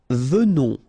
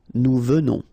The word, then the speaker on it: venons: Nous venons. Okay, so final S not pronounced, and then remember that you pronounce this like a the. Venons. Okay, O-N in your nose, on. Venons. Nous venons.